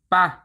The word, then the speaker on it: ป่ะ: Next is เปล่า เปล่า Is original reading form comes from หรือ เปล่า หรือ เปล่า หรือ เปล่า Over time Thai speaker scheduly chen the pronunciation หรือ เปล่า to หรือ เปล่า to เปล่า and today many people shutden it even further to ป่ะ ป่ะ this word is